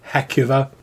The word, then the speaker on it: Heucuva: draped undead creature that from this moment on we're going to be calling the heckuva that's just how we pronounce it pronounce it however you